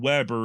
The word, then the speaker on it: Weber: web Webb R and Weber is how his modern descendants pronounce it the German born Weber